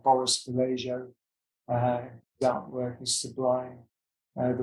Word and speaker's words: Boris Vallejo: There are other greats as well, people like Boris Vallejo.